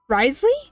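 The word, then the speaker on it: Wriothesley: Risley.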